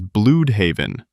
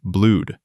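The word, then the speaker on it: Blüdhaven: Nightwing in the comics, he mispronounces it as Blued Haven, using proper English pronunciation rather than the Germanic Blude.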